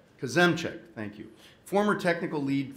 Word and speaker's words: Kozemczak: tell me if i get this wrong jason kosumchak kazemcek thank you former technical lead for twitter and